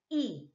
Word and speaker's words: y: But in Spanish, okay, letter Y, they pronounce it E.